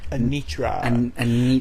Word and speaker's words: Anitra: Anitra.